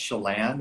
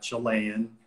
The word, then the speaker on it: Chelan: So, Chelan comes from Lake Chelan, and it's pronounced Chelan. It's not Chelan. It's not Chilean. It's Chelan. Okay. Chelan. Like Shell and Chelan.